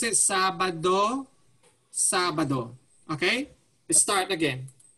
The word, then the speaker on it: Sabado: The way you pronounce it, Sabado. Okay? Let's start again. Sabado, Saturday.